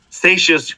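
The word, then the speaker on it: Seixas: I learned the word satious rhymes with gracious okay uh so thanks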